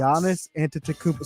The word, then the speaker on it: Giannis Antetokounmpo: a big game tonight against the Milwaukee Bucks Giannis antetokuba stay with me Billy Giannis antetokounmpo Anthony saying it wrong as well Giannis the